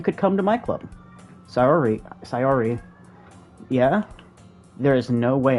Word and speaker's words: Sayori: If someone doesn't tell me to pronounce it, I pronounce it with Google Translate. Okay. Okay, S-A-Y-O-R-I.